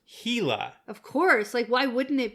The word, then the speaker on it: Gila: pointed out that it is not in fact pronounced Gila, it's pronounced Gila.